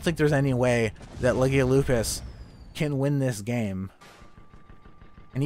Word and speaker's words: Legio Lupus: We have the Fancy Cloud Dancers versus Legio Lupus, as I was informed to pronounce the blue team's name correctly.